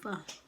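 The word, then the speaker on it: phở: Everybody calls it pho, but it's pronounced pho.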